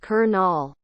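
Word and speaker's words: colonel: you're not from Michigan colel pronounced kernel duck I mean duck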